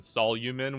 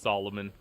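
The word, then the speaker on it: Solumn: It's spelled S O L U M N. So, I kept calling him Solomon when I was reading it, but it's just Solomon.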